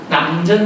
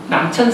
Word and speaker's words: 남전: 그래서 해인사에 계셨던 남자, 이건 한자가 샘천자거든요. 근데 사람 이름 할 때는 전을 발음하나 봐요. 남전 스님입니다. 남천 스님이 아니고 남전 스님입니다.